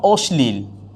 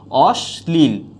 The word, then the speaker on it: অশ্লীল: ইয়ে হবে দন্তস হবে একটা উদাহরণ দিচ্ছি যেমন অশ্লীল হ্যাঁ অশ্লীলের উচ্চারণটা কি হবে এখানে স এর সাথে ল আছে যার কারণে এটা কখনো কি হবে না তালুবস হবে না হয়ে যাবে কি অশ্লীল অশ্লীল অশ্লীল হয়ে যাচ্ছে অর্থাৎ তালুবর্ষের উচ্চারণ দন্তস হয়ে যাচ্ছে আমরা এরপর আলোচনা করব